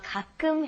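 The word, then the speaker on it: 가끔: once in a while kakum ha do you want to try that pronunciation be careful the kakum okay kakum good kakum ha and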